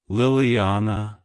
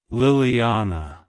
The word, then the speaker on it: Liliana: it's pronounced as lilana Liliana Liliana to pronounce it correctly emphasize that ah sound and stress the second syllable avoid pronouncing it as